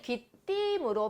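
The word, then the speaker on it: 귀띔: 이음절이고 그리고 발음은 사실 귀띠임으로 발음이 되죠.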